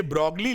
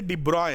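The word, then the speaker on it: de Broglie: What is द डिब्रॉय, ये ब्रॉगली लिखते हैं लेकिन पढ़ते डिब्रॉय है, BROY प्रोनाउंसिएशन।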